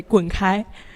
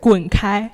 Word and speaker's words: 滚开: Well, to be gentle, you can just say 滚开, or Wait, how do you say it? 滚开.